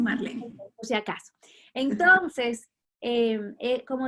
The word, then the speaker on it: Marlene: Se escribe Marlene, pero me dicen Marlene.